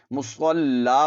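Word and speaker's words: مصلى: ہجے ایسے کریں گے، یا کو نہیں پڑھیں گے، لام دو زبر لن، مصلن، اور پھر جب وقف کریں گے تو آپ نے مصلا پڑھنا ہے، یعنی لام کے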